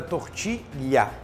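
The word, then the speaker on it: tortilla: um prato espanhol que se escreve tortila com dois L portanto é tortilha tá bom senão vocês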